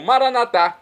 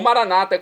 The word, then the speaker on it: Maranatá: E agora eu clamo Maranatá, como dizemos nós católicos, do aramaico, dialeto de Jesus, ou Maranata, como dizem nossos irmãos separados, os nossos queridos protestantes ou evangélicos. Não importa a pronúncia, o significado é o mesmo.